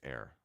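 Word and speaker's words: Ayr: I think it's air. My Scottish buddy would get mad at me right now that I forgot the pronunciation. It's air. It's an air. A y r air.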